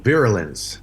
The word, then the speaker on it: Virulence: Se pronuncia Virulence.